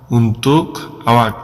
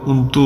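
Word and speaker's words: untuk: জন্য তাহলে বলবেন উন্নতুক উনতুক এখানে লেখাটা হচ্ছে কিন্তু যখন কথা বলা হয় তখন উন্তু বলা হয় উন্তু এই ক টা বাদ দিয়ে দেয় ওরা এটা উচ্চারণ করার ক্ষেত্রে কিন্তু লেখার ক্ষেত্রে উন্তুক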